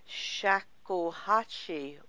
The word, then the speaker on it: shakuhachi: recording artist internationally respected in the world of shakuhachi music. Shakuhachi, you've pronounced it absolutely correctly.